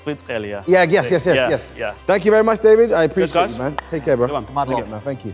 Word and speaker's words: Kvaratskhelia: I actually don't know how his full name goes, but I think it's Kvaratskhelia.